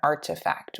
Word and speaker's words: RTFKT: capital amy wu and artifact which is spelled rtfkt which recently was acquired